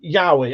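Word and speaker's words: yaoi: Paul said pronounced Yahi.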